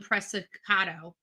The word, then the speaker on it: Preciado: It's called Preciado. Preciado. Is that right? Am I saying it right? Preciado. This is Preciado. They say his name is pronounced Preciado.